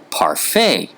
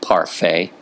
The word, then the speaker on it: parfait: Well, the French may not pronounce the T on the end of words like parfait, but they still put it there.